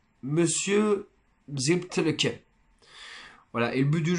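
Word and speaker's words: Mxyzptlk: Vas-y, essaie de le prononcer avec moi. Xiptelke. Monsieur Xiptelke.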